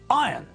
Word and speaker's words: iron: is pronounced tongue not dong GU iron is pronounced iron not iron jeremy irons name is pronounced jeremy